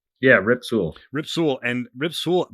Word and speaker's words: Rip Sewell: There was an Eephus pitch back in the 40s, pitched by Rick Sewell. I'm going to pronounce his name wrong. Rick Sewell, right? Yeah, Rip Sewell.